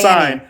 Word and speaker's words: sine: No, in mathematics it's not s y n it's s i n e in mathematics but it's pronounced s i n sign but like it's like shortened to s i n.